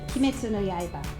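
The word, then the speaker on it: 鬼滅の刃: So Terry, how is Demon Slayer pronounced in Japanese? Kimetsu no Yaiba.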